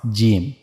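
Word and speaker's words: جيم: Here you can see this is the middle of the tongue and we have to connect this to the roof of the mouth. So that's how we have to pronounce gimm.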